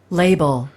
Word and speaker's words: label: 라벨이라고도 있는데 영어식으로는 레이블이라고 읽죠. label, label, 그래서 이름표 같은 거 그렇죠?